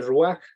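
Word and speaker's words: רוח: neuman y en hebreo esa palabra es rúa que se escribe muy raro ya lo escribí en el chat para que lo vean se dice rúa pero es pero la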